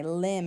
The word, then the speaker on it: limb: The B is usually the letter that is silent.